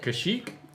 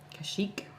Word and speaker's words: Kashyyyk: How do you pronounce it? Kashyyyk? Yes, Consuelo, you have it right. I think I pronounced that right. Kashyyyk.